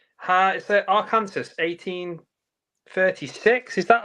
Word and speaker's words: Arkansas: just so you know, it's pronounced Arkansas, and Oh, I'm so sorry.